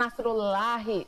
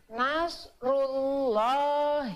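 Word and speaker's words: نصر الله: hui oleh dhomah tuh maka harus dibacanya Nasrulloh Ih jangan nashrullahi salah ya kalau lagi dibacanya Nasrulloh Hei Wah baik ya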